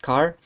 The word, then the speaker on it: char: from a signed byte that's called here char or sometimes pronounced car uh short it means